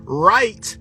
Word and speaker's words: write: is doing a ritual that's why right w-r-i-t-e and right r-i-t-e are the same phonetically that you can say them together the w is silent w for the [